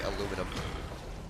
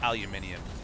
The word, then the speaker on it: aluminium: Like how you say aluminum. It's pronounced aluminium, mate. It's got an I in it.